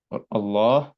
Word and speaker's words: Allah: say it like but when it comes to the word Allah it can be heavy and that depends on the on the letter before the word Allah if it's if it